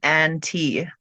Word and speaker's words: AnneTea: So I have a separate account under the name Ann T. That's spelled ANNETEA. And and so it's a good little play on words.